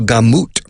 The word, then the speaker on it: gamut: Escrito gamut, es pronunciado gamut, es la palabra más cercana a gamma, o sea, surtido, gamma,